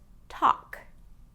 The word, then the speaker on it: talk: you'll notice that that L sound has no pronunciation in this word. It's just talk.